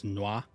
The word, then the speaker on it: N'wah: In like the Elder Scrolls Online, instead of nwah, it's nwah, so it's more like one word, and that's closer to no one. So nwah, no one, no one.